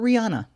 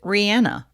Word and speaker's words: Rihanna: be simple and yet most people call her rihanna she pronounces it rihanna although she has come